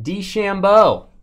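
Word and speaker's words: DeChambeau: nba now as well classic design man did shambo is that the name to shambo that how you say it the golfer yeah yeah bryson d chambeau there you go that is a portrait auto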